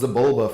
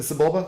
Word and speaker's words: Sebulba: I feel like it's almost Zibulba from Star Wars, but I don't know if that's how you would spell that, so.